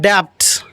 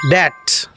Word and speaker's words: debt: It is not debt, it is debt.